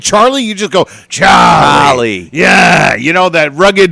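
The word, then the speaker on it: Chollie: Charlie you just go charie yeah you know that rugged that grally voice yeah and it's actually pronounced c h o l l i e no R in there there's no Charlie only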